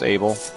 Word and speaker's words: A1B3L: It is A1B3L, which if you didn't know, guys, that's Abel.